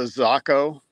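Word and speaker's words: Zako: Now you use is it the Zaco or Zaco? Who am I? You must be saying it right. I've been saying it wrong all these years. Yeah, I've been saying Zaco forever. Yeah. But hey. Yeah, it's the Zaco, which stands for like little fish in Japanese.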